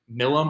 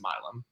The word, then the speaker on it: Milum: I've been saying Milum on the show, but it's actually pronounced Milum.